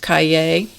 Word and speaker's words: Cahiers: This is pronounced Cahiers line.